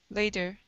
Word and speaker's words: later: at the very beginning instead of saying later okay flip that t to a flap flap t sound laid later later good all right nice job